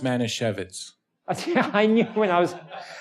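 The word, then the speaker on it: Manischewitz: you should try and do that and it's pronounced Mana shevitz I knew when I was I have to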